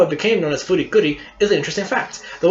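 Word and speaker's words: フリクリ: The closest you could get to writing Fooly Cooly was pronounced Furikuri, as R was the closest thing to I. Thus, it is only pronounced Furikuri when read aloud, though the name is still Fooly Cooly.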